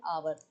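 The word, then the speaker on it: hour: जैसे एन आवर, यहाँ एच तो है लेकिन आवर, ओ से हम इसको बोलना स्टार्ट करते हैं, एन आवर, समझ रहे हो। तो यहाँ पे एन लगा हुआ है क्योंकि यहाँ पे आ से बात शुरू हो रही है ना, हावर से नहीं हो रही, एच से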